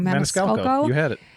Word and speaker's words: Maniscalco: I always say his last name wrong. Maniscalco.